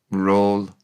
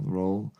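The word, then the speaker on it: rôl: rhol R with an O with an O with an roof over it and an L, r o l, roll. It's roll and l r o l e in English.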